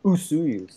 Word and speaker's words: Osoyoos: It is actually pronounced Usuyus.